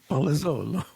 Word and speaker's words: Palazzolo: Um Palazolo.